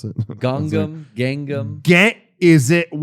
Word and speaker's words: Gangnam: The fucking 2012 hit Gangnam Style. Oh. I could say it anyway, and people will go, that's how you pronounce it. Gangam.